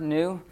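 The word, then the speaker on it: νῦ: You'll be pronouncing this word, nu, as a V a lot of times when you first start because it looks like a V.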